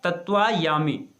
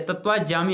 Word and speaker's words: तत्वायामि: तत्वा तम त्वाम याचामि, जिसका हम वेद में प्रयोग मिलता है तत्वायामि या तत्वाजामि, हम वेद का उच्चारण करते हैं तत्वाजामि।